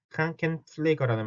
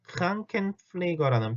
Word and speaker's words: Krankenpfleger: Krankenpfleger인데 자 발음 요거 플레이가 어렵죠. 자 F만 하면 플래거가 될 거고 P만 하면 플래거가 될 텐데 그게 아니라 플래거, 플래거. 그러니까 입술을 윗입술, 아랫입술 다 몰고 있다가 F를 위해서 위에 E를 아랫입술에 대면서 새는 소리를 내야 되니까 플래거, 플래거.